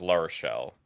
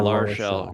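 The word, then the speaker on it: L'Arachel: pronunciation is La Rochelle. Yeah, La Rochelle.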